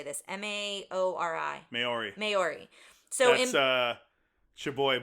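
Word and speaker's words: Māori: Maori.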